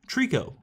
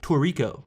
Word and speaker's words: Trico: And no, not like the Pokemon. It's spelled Trico. But it's also known as another name, which can be confusing. I just call it Trico because it has less syllables, which I guess means I'm lazy. But the other name that it is known by is Toriko, which is pretty similar to Trico, just with an extra O in there, but they have completely different meanings.